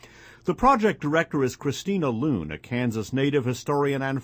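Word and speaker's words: Luhn: Loon takes her philosophical, by the way, that's spelled L-U-H-N, not L-O-O-N, although that does suggest itself.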